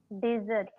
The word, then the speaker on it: dessert: Don't stress on the E sound. The E sound will be very small.